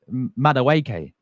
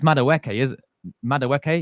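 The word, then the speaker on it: Madueke: Um Ni, I used to call him Madaw Madaweke. Yeah. It's Mawke.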